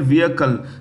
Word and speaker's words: vehicle: Which of the following forces has recently, which country has successfully tested its first solar-powered unmanned aerial vehicle? The H is silent, so it's vehicle named Kim Ing Zing 50.